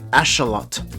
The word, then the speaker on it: axolotl: might say Axel but it's actually ashot as the name comes from noat and follows different pronunciation rules than English for this video I'll